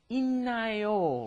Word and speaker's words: 있나요: Normally you think 있다, it's like a D, right? But then when you combine a D plus an N, it turns into 있나요, right?